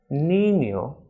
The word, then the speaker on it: niño: N with this tilde is pronounced as Enie, as in niño, España, and albañil.